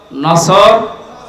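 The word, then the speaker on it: نصر: এজন্য তেলাওয়াত যখন করবেন সওয়াদ উচ্চারণটা মুখ গোল করা লাগে আল্লাহ পাক জানিয়েছেন যখন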